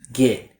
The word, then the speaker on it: get: way it's written, and they tend to use the e like bed vowel, like this, get. While this isn't technically wrong pronunciation, when native speakers speak at a natural, normal pace, we tend to replace that vowel with a small, short I like sit vowel.